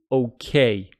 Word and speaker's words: okay: talked about it before the stress falls on the second syllable making it okay and with careful there